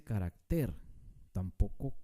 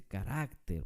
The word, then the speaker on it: carácter: ejemplo la palabra carácter no se dice carácter carácter se dice carácter por eso es una palabra grave en qué letra termina